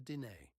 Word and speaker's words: Diné: where they became the Diné, which is simply the Navajo pronunciation of the same word.